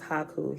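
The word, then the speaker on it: Hekau: Well, what I've read in some of the versions I got is Haku. Here it's spelled H-E-K-A-U, Hiku, Hiku, magic words of power.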